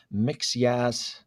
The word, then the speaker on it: Mxyzptlk: And it was Brainiac and then a sub-story of Mxyzptlk, which I think, or depending on how you pronounce him, because I know in the Lewis and Clark show, the 90s, they pronounced him Mxyzptlk.